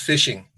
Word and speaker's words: phishing: what is fishing and it's pronounced fishing phishing is a type